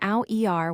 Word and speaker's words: hour: We write H-O-U-R, but we pronounce it as hour, just saying ow-er without the H sound.